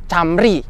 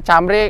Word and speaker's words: Camry: sini sini lihat tuh Camry Camry ya sorry gua bacanya cambri karena gua ya masih